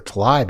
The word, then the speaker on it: Tlaib: I want to say Tlaib because it seems like it's spelled that way, or Tlaib even. A-I is often pronounced I, but it's Tlaib.